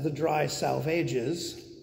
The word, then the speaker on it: The Dry Salvages: the third of them the dry salvages which the poet instructs his readers to pronounce as the dry salvages which is very strange